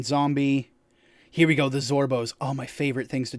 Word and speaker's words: Zorbo: So, a Zorbo, pronounced Zorbo, is a ferocious omnivore similar in size and appearance to a koala.